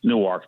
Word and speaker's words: Newark: We pronounce it Newark, not Newark, Delaware.